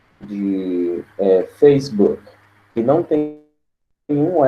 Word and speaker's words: Facebook: No caso, depois do K é Facebook. Facebook. Então, a pronúncia morre no som do K.